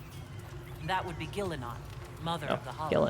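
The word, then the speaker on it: Ghilan'nain: Gillanane. That would be Gillenon, mother Oh, of the Hollow.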